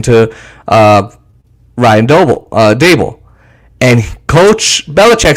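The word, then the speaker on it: Daboll: he's texting brian dable which i finally learned how to say his name he's not the bowel it's not babel it's dable and he thinks he's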